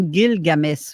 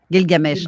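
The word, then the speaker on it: Gilgamesh: tantôt les aventures sumériennes on dit-tu guilgamèche ou guilgamè comment est-ce qu'on le prononce Guil Games guilgamesche ok le S avec le ok parce que j'essayais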